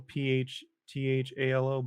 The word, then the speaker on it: phthalo: And then this one is just light phthalo blue, PHTHALO blue.